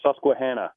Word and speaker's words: Susquehanna: Just want to let you know it's pronounced Susquehanna.